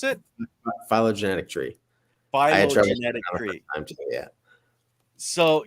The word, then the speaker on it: phylogenetic: Well, and that actually brings us to this little diagram, the polygenetic tree, or is that how you pronounce it? Phylogenetic tree.